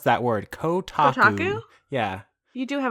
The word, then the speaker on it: Kotaku: I don't know why I can't pronounce that word. Kotaku.